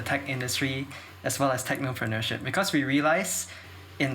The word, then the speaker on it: technopreneurship: subway tech club what is i can't even pronounce the word it's such a mouthful technopreneurship am i saying it correctly yeah you are